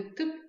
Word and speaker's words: тып: В слове «тып» опять обратите внимание на то, как читается буква «и». Ее как будто бы не слышно. «Тып». Но она есть.